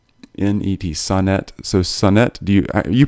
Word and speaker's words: Sonnet: name right et in et Sun net so Sun net do you pronounce it yes Sonic sonnet son at Bryant